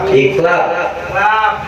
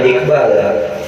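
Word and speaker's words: iqlab: Yang ketiga, yaitu ada iklab, bukan iqbal. Iklab secara bahasa, jangan iqbal Bang Dede, iqbal lagi.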